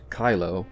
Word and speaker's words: Cylo: Not Kylo Ren, but an Imperial scientist named Kylo, which is spelled with a C and not with a K.